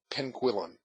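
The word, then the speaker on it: Penguillan: of this worthy was Benjamin penuin according to his own pronunciation but owing to a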